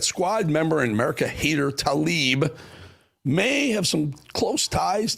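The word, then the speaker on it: Tlaib: Rashida Talib may have t, you'll understand why I said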